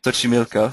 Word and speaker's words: Xochimilco: I'm not sure how to pronounce it, Alejandro. You'll have to help me with that one. Xochimilco. Xochimilco, thank you.